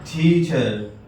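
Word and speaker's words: teacher: استاذ استاد، ٹیچر ٹیچر، یہاں بھی را ہے، تو انگلش ورڈ کے آخر میں جہاں بھی آر آتا ہے اس کا تلفظ عموماً نہیں ہوتا، کیا کہیں گے؟ ٹیچر ٹیچر۔ تلمیذ تلمیذ، شاگرد، اسٹوڈنٹ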